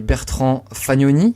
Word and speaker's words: Bertrand Fagnoni: Aujourd'hui, j'accueille Bertrand Fagnoni, c'est comme ça que ça se prononce ?